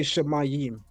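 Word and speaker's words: שָׁמַיִם: heaven like in Lakshawanash how do you say heaven shamayam say it again shamayam shamayam shmayam okay so all right so we say shamayim right and again that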